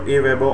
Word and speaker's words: AWeber: Some people pronounce this as Auber, but I think it's pronounced as AWeber because that's what most people pronounce it as.